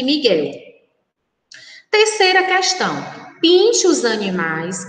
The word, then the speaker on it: Miguel: Foguete, guepardo, Guilherme, guincho, Miguel. Então, essas são as palavras que nós, quando pronunciadas, não escutamos o som da letra U, que exatamente como mangueira.